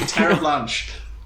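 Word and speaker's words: Terre'Blanche: Yes, Eugene Terreblanche. Incredible. What a pronunciation.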